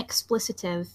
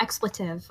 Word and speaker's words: expletive: Yeah, it's not like an explicitive yet. So. Yeah. Oh, what now? Explicitive. It's like a derogatory word. It's like a swear word. Right, okay. I mean, it. Or maybe Yeah, it's pronounced I- expletive.